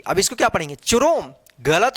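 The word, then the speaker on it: Chrome: आर ओ एम ई, क्रोम, इसको चुरोम नहीं पढ़ेंगे। देखिए यहां पे अब क्या हुआ कि सी एच का यहां पे क्या हुआ उच्चारण, क उच्चारण हुआ।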